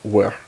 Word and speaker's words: Wer: So, I think it's actually supposed to be pronounced where.